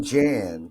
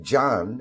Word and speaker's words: Jan: Well, my mom calls me Jan because she watches BBC. My father calls me Jan, and I'm American. Like, what's your plan, Stan? So I'm Jan, but in Turkish, it's pronounced Can, and it's a very common name.